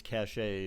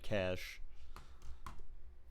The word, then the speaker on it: cache: it's called it's called cash like browser cache so yes that is what I mean but that's now it's not pronounced you don't pronounce the e the e at the